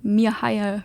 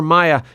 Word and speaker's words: Maiah: has oh we were we've gotten a lot of really weird really weird pronunciations I think Mia hiya was the yeah hi that's the weirdest one I got yeah well awesome Maya thank you so much